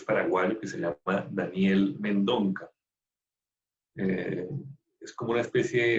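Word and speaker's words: Mendonça: que se llama Daniel Mendonca. Es como una especie, el apellido es una especie de Mendoza, pero se escribe Mendonca.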